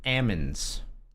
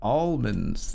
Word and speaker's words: almonds: Anything that's ALM, she just doesn't pronounce the L at all. It's Pam. It's Ammons. I was like, what are you talking about? It's almonds.